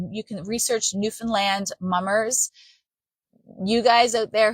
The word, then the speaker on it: Newfoundland: And we pronounce it Newfoundland. Newfies who are from there, we do not pronounce it Newfoundland. We pronounce it Newfoundland.